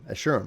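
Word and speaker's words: Escharum: play the game so how is it pronounced eh shurim assure him okay who are the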